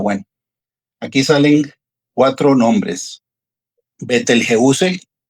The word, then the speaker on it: Betelgeuse: Betelgeuse, así es como se pronuncia en español, significa el brazo del cazador.